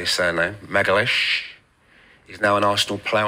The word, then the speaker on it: Magalhães: Magalhães.